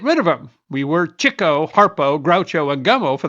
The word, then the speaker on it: Chico: Chico, and yes, it's Chico, because Leonard, his brother, writes, chased the chicks. Despite the eventual spelling, if you've called him Chico Marx, you were pronouncing it wrong.